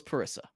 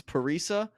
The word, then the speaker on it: Parisa: up we have another name I mispronounced uh Parisa thought it was parissa you'll learn a lot night one hand up we'll recognize when we were wrong it's paresa I forget what her